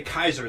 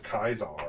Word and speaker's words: Caesar: how they say it they say kaiser they don't say caesar i hate that uh yeah it's it's not even kaiser it's kizar yeah like it's like except